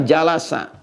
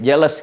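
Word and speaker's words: جلس: Majelis ini asalnya dari kata jalasa. Jalasa. Jalasa. Bacanya pakai bahasa Arab ya, jangan pakai bahasa Inggris. Jealous gitu. Jalasa ya.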